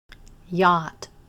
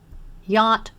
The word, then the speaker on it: yacht: be on its way yacht yacht rhymes with hot a yacht is a